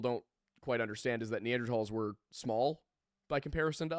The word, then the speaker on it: Neanderthal: Technically, it was the original word is German, so Neanderl is technically the correct pronunciation. But if you say Neanderthal, you're not wrong.